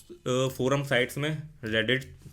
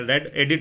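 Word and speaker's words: Reddit: की मैं यहां पर रेडिट रेडिट रेडिट ठीक है ना रेडिट मैं इसको कई बार सही से प्रोनाउंस नहीं करता मैं रेड एडिट बोल देता हूं जबकि है रेडिट ठीक है ना तो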